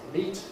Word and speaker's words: meat: blind wet meat is meat rhymes with your feet and although the spelling